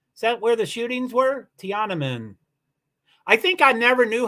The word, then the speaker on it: Tiananmen: phonetic that's phonetico right Tiana min Tiana Min thank you thanks for teaching me how to say that that is right right where all the